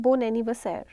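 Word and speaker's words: bon anniversaire: Again हमारा बो एन पे ख़त्म हो रहा है एंड एनिवर्सर ए से स्टार्ट हो रहा है. सो we have merged both of these alphabets and collectively हम इन्हें बोल रहे हैं बोन एनिवर्सर. That is वाई it's like a little bit आपको लग रहा है कि हम मर्ज करके वर्ड्स को बोल रहे हैं.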